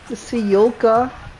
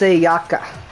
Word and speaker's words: Sayaka: Sayaku, Seimana, Sayaka, Sayoka. It's Sayaka.